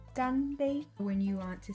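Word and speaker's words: 干杯: Cheers in Mandarin is pronounced ganbei.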